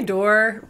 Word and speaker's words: Dore: a dear friend jessica dory pronouncing your last name right i say door we said my family says door but i like dory because i think that's actually what it was originally i think they you